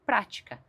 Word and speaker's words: prática: A palavra prática tem um acento que deixa bem claro que eu preciso enfatizar, ou seja, colocar mais força na primeira sílaba e eu falo prática.